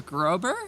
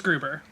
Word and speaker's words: Gruber: James Grober. Is that how pronounced? Grober. James Gruber.